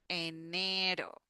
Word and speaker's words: enero: Normally, when we have one R in Spanish, that is the sound do, do, do, do, the like the flap T that we have in English for butter. Enero. enero.